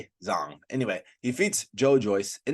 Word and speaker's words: Zhang: Okay, I always mispronounce the first name. Zhang.